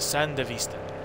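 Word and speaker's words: Sandevistan: got like that's like like how they would say it in Spanish basically it's like oh cool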